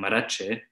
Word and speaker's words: Marrache: Marachi is spelled with a gim at the end which has the sound of G.